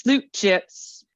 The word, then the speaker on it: slap chips: And my two favorites were the slap chips, often pronounced sloot chips, from South Africa.